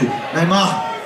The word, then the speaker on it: Nijmegen: Is it a strong G? Neymarken? No, soft G. Neymarken.